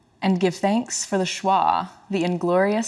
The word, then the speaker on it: schwa: that this word is schwa schwa okay thank you I've never seen it written down it's said the way it's spelled yeah schwa but thank